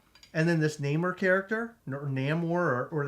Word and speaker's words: Namor: character Namor or or they they call them no more did you notice that yeah I have never ever heard anybody pronounce the name that way but I think it's because of the like I guess what's the word I'm looking for the heritage of the character you know what I mean so maybe that's why they they worded that or the the way they pronounce it that way but what do you